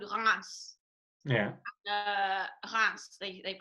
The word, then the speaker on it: Reims: Reims, they pronounce it like that.